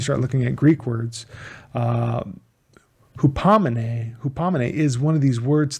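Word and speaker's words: ὑπομονή: Hupamine. Well, hupamine, sorry, the accent is on the last one.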